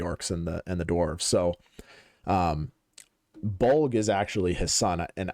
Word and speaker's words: Bolg: So Bolg is actually his son, and I think that's how you'd pronounce it, right? Just Bolg?